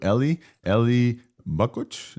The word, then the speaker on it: Eli Bakuch: And in to cover the open source and the first release in our docket, we want to say welcome to Eli Bakuch. Am I pronouncing this correctly?